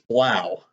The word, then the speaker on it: Blough: Yeah, I even looked up how to pronounce his name. It's Blough, for that crazy spelling down there.